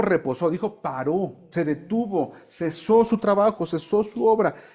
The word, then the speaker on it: cesó: ponle una marquita arriba, ponle cesó, con acento en la O, cesó de hacer su obra.